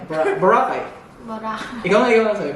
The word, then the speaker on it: Boracay: one of the tourist famous tourist destination there Boracay so medyo hard yung pronunciation k bor b bake borac ganon ka ba Ganon hindi hindi Boracay Boracay Boracay Ikaw nga ikaw Sabi mo wakay Ang